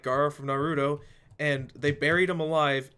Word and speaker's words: Naruto: TV show Nar or they say it like narut narut the show known as Naruto anyways um yeah he